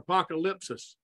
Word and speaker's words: apokalupsis: Apokalupsis, what's another word for apokalupsis? Our proper pronunciation is apokalupsis.